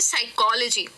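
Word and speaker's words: psychology: उसे करते हैं तो वो हो जाता है साइकोलॉजी तो देख रहे हैं पी तो मैं का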